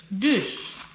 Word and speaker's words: Dutch: Dush. Says, pronounced like Bush, but with a D.